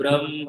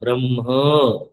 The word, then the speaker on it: ब्रह्म: सर्वं ह्येतत् ब्रह्म, सर्वं ह्येतत् ब्रह्म। माँ जैसा लगने लगा आपका उच्चारण। ब्रह्म क्या लगना चाहिए? हाँ, ब्रह्म। हाँ, ह पहले ब्रह्म। हाँ, ब्रह्म नहीं है, पहले ह है।